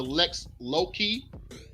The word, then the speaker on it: lex loci: That creature of the Lex Loki. That's how you pronounce that.